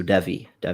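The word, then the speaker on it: Devey: um offensive lineman jordan devi divi was called as well i've heard it's pronounced like heavy so so devi okay i was curious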